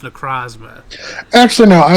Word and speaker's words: Necrozma: Necrozama. I don't like this guy. Sorry, I've been told it's pronounced Necrozma.